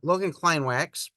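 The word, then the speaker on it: Logan Kleinwaks: I have to remember I always wanted to pronounce it the German Way and he pronounces it very American so Logan Klein wax he's computer programmer found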